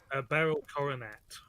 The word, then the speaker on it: Beryl Coronet: How do you pronounce that? Beryl Coronet.